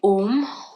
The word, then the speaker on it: om: this exercise three times when we say om we are going to break it down into three syllables um is the m at the end it's almost like a u m ohm now while we're